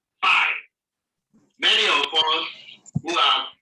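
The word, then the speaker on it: π: It is pronounced P as in pay.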